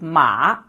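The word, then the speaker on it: 马: This is a character for horse and it is pronounced as ma.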